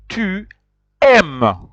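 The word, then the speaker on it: tu aimes: S so it be but you pronounce it to M repeat after me to M and you see you realize that you do not pronounce uh e s you pronounce just a i m this is true m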